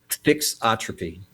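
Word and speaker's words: thixotropy: Uh how do material properties such as viscosity trixotropy and if I'm pronouncing that trixotropy is that am I pronouncing that right? Fixotropy.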